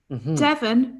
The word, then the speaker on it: Devon: Devon rhymes with heaven.